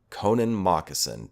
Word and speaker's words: Connan Mockasin: It's spelled Connan, that's Connan, and then Mockasin, Mocksin. Connan Mockasin.